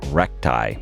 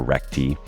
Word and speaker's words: recti: it is called diastasis recti or recti it seems to be pronounced both ways among experts but I'll just say recti and this is a